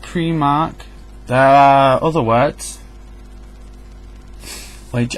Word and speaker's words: Primark: These are all pronounced primary, primate, Prime Minister, and prime. Pri is a Latin suffix to mean first. The first. Pri. So Primark, if you think of it, is the first market.